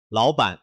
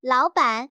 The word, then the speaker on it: 老板: 首先，“ Lǎobǎn”—— 注意 “bǎn” 是中性声，轻快而短促。聽我說「勞班」。勞班。不要重讀 “bǎn”；如果這樣，那就意味著一塊木板。